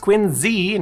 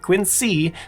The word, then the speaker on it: Quincy: As for Quinsey, which yes, is pronounced Quinzy, not Quincy, the city is home